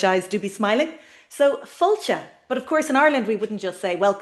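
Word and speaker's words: fáilte: So there's an accent over the a. This is the only accent in the Irish language. It's called the father, meaning long. So we hear fall, then we smile into the eye.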